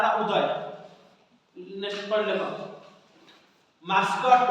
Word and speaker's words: Udai: mascot करछि ता नाम उदय नेक्स्ट पढ़ लेखो मास्कट उदय तो स्पेलिंग लेछि कि अलग UDAI किंतु देखो UDAI उदय किंतु स्पेलिंग लेछि UDAI उदय मास्कट MASCOT मास्कट केतना